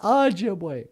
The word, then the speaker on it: Ojibwe: yeah you tell them oh sounds like the word o in go or Ojibwe yeah it's Ojibwe not Ojibwe yeah that's the problem people like oh let's go speak Ojibwe what no it's Ojibwe uh